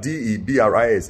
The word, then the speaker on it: debris: It's my daughter that corrects almost every single sentence, every single pronunciations I make. The other day, she was telling me that D-E-B-R-I-S is debris.